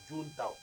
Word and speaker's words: Juncao: parce que là, nous sommes allés étudier les Juntao. En fait, ça s'écrit Junkao. Junkao. Oui, mais ça se prononce Juntao.